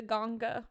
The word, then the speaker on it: Ganga: They call it the Ganga River. And it sounds weird when I say it, but I promise that's how they say it. It's actually the Ganga River.